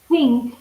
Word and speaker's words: think: So as you can see, as you can hear, sorry, think has a th in front.